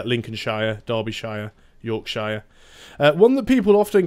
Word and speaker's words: Yorkshire: yorkshire yorkshire York Shire depending on what part of the UK you probably say it slightly differently and I I'm from the sort of the middle area of the country so we tend to say Shearer for some reason so it'll be like Yorkshire Derbyshire Lancashire we don't say